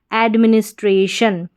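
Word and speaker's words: administration: तो स्ट्रे एडमिनिस्ट्रे और फिर शन टी आई ओ एन शन एडमिनिस्ट्रेशन क्या बन गया एडमिनिस्ट्रेशन मतलब प्रशासन तो यहां पर आपके जो कोड है टी आई ओ एन शन है।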